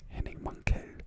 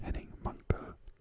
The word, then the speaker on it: Henning Mankell: was younger, and I always thought it was Henning Mankell, but it's Henning Mankell, which I learned when he died, unfortunately, because people were pronouncing his name and I was pronouncing it wrong all the time.